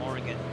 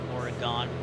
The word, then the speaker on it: Oregon: As we head further inland to Redmond, Oregon. Remember, I met some people from Oregon, and I kept saying Oregon. They kept correcting me as Oregon.